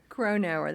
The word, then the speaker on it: Cronauer: Did I pronounce that right? Cronauer. That's right. Cronauer.